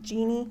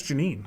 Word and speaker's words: Janine: Is it, how do you pronounce it? Jeannie? Is that Jeannie? That's Janine. Janine.